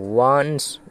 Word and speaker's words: once: ওয়ান্স দেওয়া আছে ONCE, তাহলে এর উচ্চারণটা কী হবে না ও আর এনে হচ্ছে ওয়া, ওয়ান, ওয়ান, এটা হচ্ছে স, তাহলে ওয়ান্স, ওয়ান্স মানে হচ্ছে একদা।